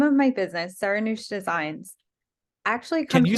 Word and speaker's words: Seranoush: Okay, so the name of my business, Seranoush Designs, actually Can comes you from, say, how do you say it? Seranoush? yeah, Okay, I Seranoush. was always saying it's Serenhouse.